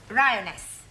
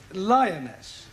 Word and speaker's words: lioness: Rioness. Lioness.